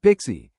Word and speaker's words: PKCE: PKCE, which stands for proof key for code exchange and is pronounced Pixie, is a security extension to OOTH 2.0 defined in RFC 7636.